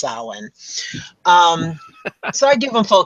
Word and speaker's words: Samhain: for pronouncing it correctly it's not Samhain people it's Alan so I give them